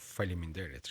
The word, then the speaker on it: Faleminderit: At least they taught you the real word of Faleminderit, right?